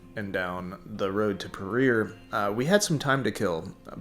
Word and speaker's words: Paria: town called peru i thought it was called pariah but apparently it's pronounced peru and yeah it's like an old little ghost